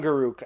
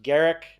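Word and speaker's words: Garruk: is inuk's G Garrick whatever I call him Guk I know it's pronounced Garrick I like Guk better even though it's wrong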